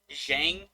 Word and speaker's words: Xiang: like pretty familiar on is shang the x i a ng i'm pretty sure that's shang but uh the j-i-a-n